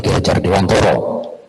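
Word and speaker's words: Ki Hajar Dewantara: tulisannya pengingat hilang kalah Tapi bacanya kihajardewantoro kalau cara bahasa Jawa itu yang benar kata begitu loh Nah rezeki ini sudah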